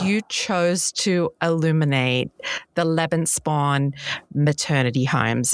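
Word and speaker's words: Lebensborn: chose to illuminate the Lebanspawn maternity homes. Is is it Lebanspawn or Lebanspawn? I actually call it Levenspawn.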